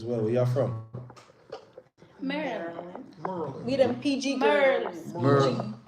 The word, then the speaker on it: Maryland: Yes, that's how you say it. Merlin. Merlin. I thought that was a person. That sounds like a person's name. No, it's not Maryland. It's not Maryland. Maryland. It's Maryland. Merlin.